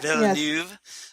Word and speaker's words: Villeneuve: I need to start posting some articles about the upcoming Dune adaptation by Denis Villeneuve, or however you pronounce his last name. Villeneuve? Villeneuve.